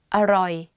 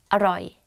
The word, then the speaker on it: อร่อย: So อร่อย อร่อย อร่อย and you say it faster อร่อย.